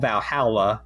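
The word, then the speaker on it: VA-11 Hall-A: or the year before it's called Valhalla but it's spelled VA - one one Hall - a what it's about halibut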